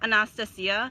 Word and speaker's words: Anastasia: So it's actually pronounced Anastasia.